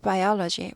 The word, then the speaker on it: biology: It's biology. biology가 생물학, 생물 이렇게 되죠. 생물 배우죠. 학교에서. 생물학이죠. biology. biology. biology, biology 앞에 오의 액센트 있어요.